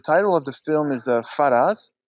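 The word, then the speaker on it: Faraaz: uh the the title of the film is faraz it's spelled f-a-r-a-a-z and it's directed by a great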